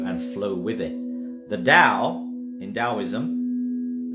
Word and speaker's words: Tao: flow with it the Dao in taoism spelled t-a-o but pronounced Dao is the way the